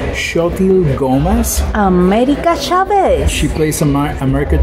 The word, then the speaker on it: Xochitl Gomez: Her name is pronounced Xochitl Gomez.